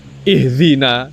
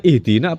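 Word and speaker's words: اهدنا: sudah kulino dari dulu membacanya ihzina ya to ihzina harusnya pakai dal tapi pakai ihzina itu kesalahan yang sudah mengakar mulai dari dia muda terus menjadi tua. Ketika tua diingatkan oleh anak muda nak terima itu bacanya ihdina apa ihdina.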